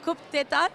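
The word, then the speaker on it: Coup d'état: You are nominated tonight for you're going to have to pronounce it to me. Coup d'etat?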